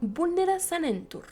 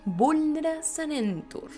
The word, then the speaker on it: Vulnera Sanentur: de inmediato el contramaleficio Vulnera Sanentur, con pronunciación como si fuera una canción. Vulnera Sanentur.